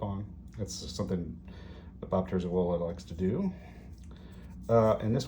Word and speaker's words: Terzuola: I know some people say Terzula or Terzola. I'm pronouncing it the way that he does in his videos, Terzuola, right? Terzuola.